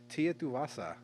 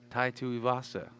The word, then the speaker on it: Tai Tuivasa: let's talk about uh tia tuwasa and his name and he's butchering all these names today is that not how you say it tai tuivasa i literally said that like three times before we